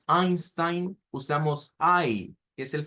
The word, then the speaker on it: Einstein: y con una I todo lo que lleva e i en idioma alemán se pronuncia con i es el sonido que